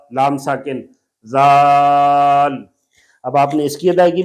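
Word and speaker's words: ذال: ये भी नरम हरफ है, आप इसमें सख्त आवाज नहीं निकाल सकते, जाल, जाल, सख्त सीटी वाली आवाज नहीं निकाल सकते।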